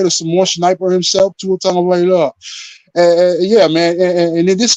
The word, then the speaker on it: Tagovailoa: Yeah, that's Tua Manu Lepola Tagovailoa.